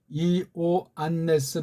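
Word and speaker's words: Ἰωάννης: 하는 것을 슬쩍해서 쓰는데 헬라스 말은 이오 안네스 아고 기록해야 돼요 발음도 그렇게 해야 되는데 이자는 좀 빨랑 아고 많이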